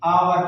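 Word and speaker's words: hour: अब यहाँ पर एच के बाद ओ यू आया हुआ है तो ये एच भी साइलेंट खामोश है, इसको नहीं पढ़ेंगे, आवर पढ़ेंगे इसको।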